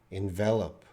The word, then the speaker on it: envelop: spelling Oh envelop okay envelop envelop is to surround yeah so in pronunciation is different it's the first time I'm reading envel and envelop so envelope is where you put the letter in and you mail it and envelop envelop means to surround the smoke from the fire enveloped me surrounded me different pronunciation I'm from Canada Samuel Meghna